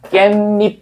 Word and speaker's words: 깻잎: 깻잎 입 이렇게 되는데 실제로 우리가 발음할 때는 얘를 사이소리 현상이 적용되니까 깻잎 이렇게 되겠지.